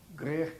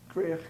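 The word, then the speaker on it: Gwrych: Grech Castle is spelled G-W-R-Y-C-H. Grech Castle, which is a Welsh name for bush, bushy castle, actually.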